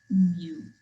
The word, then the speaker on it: mu: mu is the population mean we speak it mu it's kind of like what pat says but it's spelled mu and so that is uh if